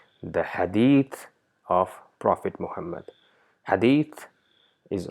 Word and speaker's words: Hadith: we see that the in Urdu it is pronounced as hadees which might be correct in Urdu but for Arabs that's incorrect it's neither Hadith it's nor Hadith it's Hadith mixture of both where the tip of the tongue touches the top of the tip of the top two incisors to produce the sound Hadith so so this the